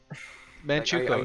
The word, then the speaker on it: Manchukuo: How have you not learned to pronounce that? I've said it like a billion times. Okay, whatever. Manchukuo.